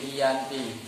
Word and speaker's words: Giyanti: Dalam pelafalan Belanda ia disebut sebagai Iyanti, dan secara tertulis ia terbaca sebagai Giyanti. Tempat tersebut sekarang dikenal sebagai Tugu Kerten, Jatiharjo, Karanganyar, Jawa Tengah.